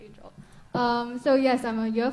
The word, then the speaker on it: Aingeal: So I know it's spelled differently, but yes, it's pronounced as Aingeal.